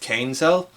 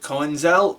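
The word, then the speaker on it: Köinzell: Mostly because I just wanted to figure out how Kainzel's name is pronounced, which apparently that's how it's pronounced, Kainzel. I always pronounce it Coenzel because I don't know how umlauts work.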